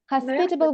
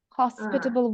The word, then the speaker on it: hospitable: we say this uh there is something with the stress hospitable would be British hospitable would be American so if you stick